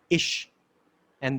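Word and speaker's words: אשה: Similarly, woman is pronounced as Isha in Hebrew, and the He of God is there in the woman.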